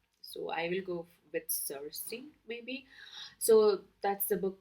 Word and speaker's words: Circe: I know that in Greek it is pronounced Kirke, but I have heard all kind of pronunciation. So I will go with Circe maybe.